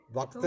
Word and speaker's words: वक्त्र: नहीं है वो उच्चारण भी जब श्लोक बोलते हैं वक्त्र, तो वक्त्र बोलते ही नहीं, वो वक्र।